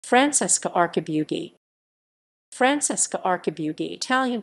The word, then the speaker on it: Archibugi: francesca arcabugi francesca archibald the italian pronunciation francesca arcabu d zai born 16 may